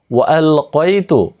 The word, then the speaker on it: وألقيت: এখানে একটি জিনিস শেখার আছে, সেটি হচ্ছে এখানে ওয়ালকাইতু কফ দিয়ে উচ্চারণ করবেন।